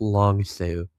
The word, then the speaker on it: Long Sault: Oh, it looks like people are pronouncing it, correcting my pronunciations. Yeah, I'm not going to be any better than Adam, so it's Long Sue.